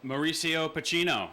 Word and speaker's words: Pochettino: And can you pronounce his name? Mauricio Pochettino.